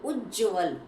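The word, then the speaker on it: उज्ज्वल: उज्जवल दोनों ही आधेआधे आ रहे हैं।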